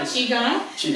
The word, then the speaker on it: Qigong: Is that the proper pronunciation? Yeah, Qigong.